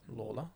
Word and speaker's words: Lalor: is it Layla or Laylaw? Lawler. Lawler. There we go. Somehow, even though it's spelled Lalor.